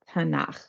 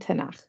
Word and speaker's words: Tanakh: Bible we call it tanak hear that Thro sound at the end tanak so it's really an